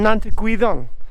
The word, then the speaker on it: Nant-y-Gwyddon: vowed uh we're at nantu guidon on nante guidon as i'm told it's pronounced there's trioki in the